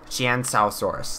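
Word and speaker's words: Qianzhousaurus: into it myself, and from my research, it is Chiansaurus. Chiansaurus, that's how you're supposed to pronounce it.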